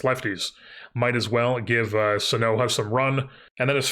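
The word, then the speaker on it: Sanoja: It's not Sonoja, it's Sonoha.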